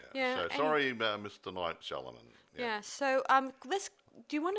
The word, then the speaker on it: Shyamalan: By the way, I know his right pronunciation of his last name now. It's Shyamalan.